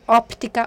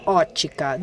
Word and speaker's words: ótica: and they say that when you don't pronounce the P in the word, you don't include the P letter. So we can continue writing both ways, optica or ótica.